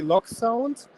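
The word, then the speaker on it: LokSound: Yes, the German pronunciation would be Loc sound, but that's a Loc means locomotive in German.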